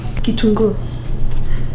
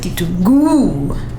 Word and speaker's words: kitunguu: Kitungu. Not Kitungu. Wait, Kitungu. Yeah, Kitungu. Yeah. So I do that because it reminds me that the emphasis goes.